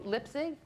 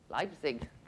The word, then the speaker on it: Leipzig: um northern europe singapore helped me lipsy how do you say that leipzig berlin and uh burlington